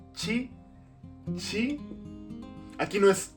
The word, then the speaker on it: ち: Mucho cuidado aquí porque no es ti, es chi.